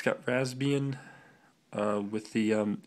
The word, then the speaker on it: Raspbian: this holds raspbian testing raspbian i keep pronouncing the p the raspbian testing um